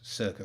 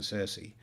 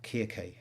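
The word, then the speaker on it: Circe: aware of why i decided it was circa rather than cersei or kierke in greek thank you for that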